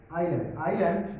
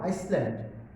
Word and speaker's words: island: Island means deep.